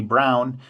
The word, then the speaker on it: Braun: record player Radio uh by the German company Brown um spells like spelled like like Braun um and this was an